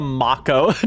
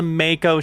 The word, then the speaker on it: Mako: Mo, I wonder how many times I've accidentally called it the Macco during this run. might have been the entire run. Oops, that's right. Cuz they're named after sharks. It would be pronounced the makeo shark.